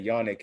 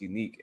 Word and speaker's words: Yannick: I've been hearing people say Yannick Ngakoue, but it's Unique Ngakoue. He said it himself on the Ravens channel.